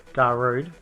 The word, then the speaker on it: Darude: night pumping in the background that's why i pronounced it right da rude yeah yeah i think so it's just funny